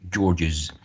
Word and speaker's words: George's: George, ends in sibilant, and then we need to add an extra syllable. This is wrong. Okay, it should be George's.